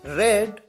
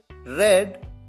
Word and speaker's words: read: यहां पर ध्यान रहे कि सेकंड फॉर्म और थर्ड फॉर्म की स्पेलिंग तो सेम होती है, READ, लेकिन प्रोनाउंस डिफरेंट तरीके से किया जाता है। फर्स्ट फॉर्म है रीड, सेकंड फॉर्म है रेड, थर्ड फॉर्म भी है रेड और फोर्थ फॉर्म रीडिंग।